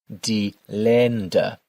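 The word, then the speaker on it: Länder: Make sure to pronounce the umloud in the word here. Dender dender the countries.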